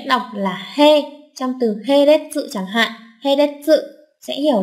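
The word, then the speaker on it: 並列: Trường hợp đọc theo âm ôn thì các bạn sẽ nhớ cho mình cách đọc là He trong từ Heretsu chẳng hạn.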